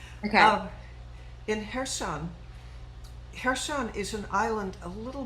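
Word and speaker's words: Kherson: be cursing but the rest the uh ukrainians pronounce it hair sun okay and uh i'm gonna show off and pronounce it the ukrainian way okay now in here sun hershon is an island a little bit it makes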